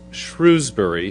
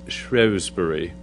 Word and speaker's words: Shrewsbury: to actually speak in what I thought from the map was Shrewsbury, his birthplace, but I learned when I was there it's pronounced Shrewsbury. Okay, it's a British thing.